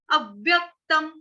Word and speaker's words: अव्यक्तम्: यह 'अव', 'अब', 'अव', 'एब', 'ए', 'व', 'अव', 'अव्यक्तम', ' अव्यक्तम' है। और दूसरी बात, हमें 'व' का उच्चारण किसके साथ करना चाहिए?